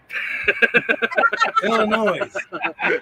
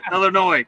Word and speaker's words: Illinois: from to Midwest Bell the S is silent Illinois Illinois what's up with that